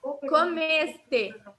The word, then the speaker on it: comeste: Esse o E aqui, ele fica normal, o som de E mesmo. Então, tu comeste. O que acontece? No português, na hora de falar, às vezes, quando a última letra é o E, fica parecido com o I, a pronúncia.